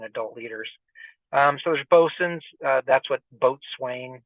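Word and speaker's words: boatswain: the Skippers and adult leaders um so there's bosin uh that's what boat Swain that's how you pronounce that area bosen um Keyport Naval torpedo station merwell R Ru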